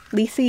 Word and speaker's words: Lisi Harrison: Lisi is how you pronounce her name.